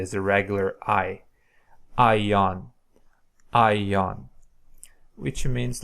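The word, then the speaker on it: αἰών: a aspiration so high this is just to indicate that you don't have to use aspiration you should not aspirate so just pronounce it normally as a regular I ion ion which means like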